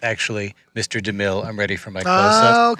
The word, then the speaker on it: DeMille: DeMille." And it's just so weird that it worked out. Yeah. I think we would have used a line anyway, but it's so weird that DeMille rhymes with McGill.